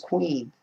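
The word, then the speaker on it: קין: kane was the first queen queen is how you say cain and hebrew queen queen so you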